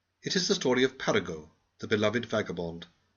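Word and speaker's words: Paragot: It is the story of Paraggo, the beloved vagabond. Please pronounce his name French fashion.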